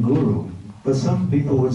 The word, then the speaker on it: guru: If you say guru, you're saying cow. So one time Prabhupada said, I know you mean well, but please don't call your spiritual master a cow.